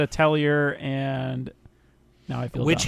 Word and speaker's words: Atelier: pronounce it, which was Atelier. What did you say? Because I said Atelier, and now I feel Witch dumb. Hat Tallahassee. All right, here we go. But the R is silent.